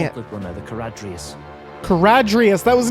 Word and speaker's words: Charadrius: CHARADRIUS. That was not even close to how I was pronouncing it.